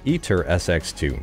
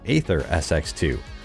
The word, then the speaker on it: AetherSX2: let me know that it is pronounced eater sx2 not aether sx2 i didn't know that